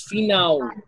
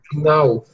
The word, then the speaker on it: final: destino final lemem que o l final aqui né em português é o som de u então falamos final final final isso então o